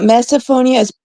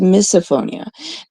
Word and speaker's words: misophonia: It's actually not meophonia. It's actually pronounced misophonia.